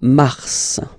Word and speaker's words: mars: Okay, so in a way it's an exception because normally final S is not pronounced in French. Okay, we've got some exceptions and this one is one of them. So mars, pronounce the final S, mars, mars.